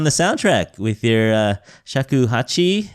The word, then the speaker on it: shakuhachi: you're also on the soundtrack with your uh shakuhachi how do you say that yeah yeah pretty close shakuhachi shakuhachi okay yeah it's a Japanese flute Japanese flute